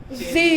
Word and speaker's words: Z: এজন্য এটাকে এটার মধ্যে ব্রিটিশ এবং আমেরিকান প্রনাউন্সিয়েশনে জেড এবং জি বলা হয়।